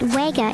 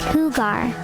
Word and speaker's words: jugar: You're saying it wega instead of jugar, which is pronounced like hugar. In Spanish, the J is pronounced like a soft H.